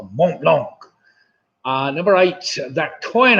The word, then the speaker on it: Mont Blanc: mountain in Europe behind al Burris of causes Mount Blanc Mont Blanc ah number eight that coin hours after his